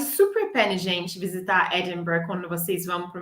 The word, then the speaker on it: Edinburgh: Então, nós vamos falar Edinburgh. Edinburgh. Edinburgh. Então, é bem diferente de como é que está escrito. O R vem logo depois do B na pronúncia.